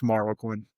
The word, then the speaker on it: Marroquin: I'll say, "Well, it's Marlo Quinn."